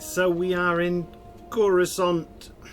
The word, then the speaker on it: Coruscant: All right, so we are in Coruscant, or Kurskant as the computer likes to pronounce it, or Imperial Center if